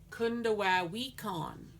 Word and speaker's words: Kundawawikon: So Kunda wa, like a baby crying, wah. We con, like someone who's been to jail, con, and the stress is on this part. Kun da wa we con.